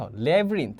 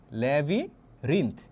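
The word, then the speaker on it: labyrinth: দেখ লেভরিন্ত এটা এটা তোমরা এরকম উচ্চারণ করবা ধরো যে এটা উচ্চারণ করলে এরকম হয় ধর যে লেভিরিন্ত লেভিঋন্থ এখন বল যে ভাইয়া লেভরিন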